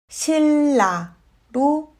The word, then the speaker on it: 신라: 신라는 신라로 발음합니다.